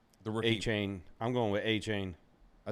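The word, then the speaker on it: Achane: A-Chain. I'm going with A-Chain. I think he said his. He would look the pronunciation up. He said it online too. I believe it is Achan or Achan.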